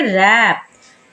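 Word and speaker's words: wrap: डब्लू के बारे में जब डब्लू आर से पहले हो तो डब्लू हो जाता है साइलेंट जैसे कि यहां पर है रैप रैप में आर से पहले डब्लू आ रहा है तो डब्लू हो जाएगा साइलेंट तो क्या पढ़ेंगे रैप रंग रैपर रेस्ट क्यों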